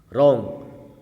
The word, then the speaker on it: wrong: रॉन्ग, silent का मतलब ये होता है कि मान लो हम कोई वर्ड पढ़ रहे हैं और उसकी आवाज़ उसमें आ नहीं रही है।